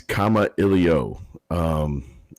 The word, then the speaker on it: Kamailio: the first aspect is this is comma Elio it's a Hawaiian word and it means to communicate and you know it's sometimes easier if you see it spelled out phonetically like that my name is